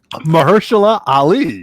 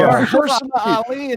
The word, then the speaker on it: Mahershala Ali: Mahershala Ali. Yeah, here we go. There you go. Mahershala Ali. That was amazing. You got it on the first try. All right. Well, Mahershala Ali called up Marvel and said, "I want to be Blade."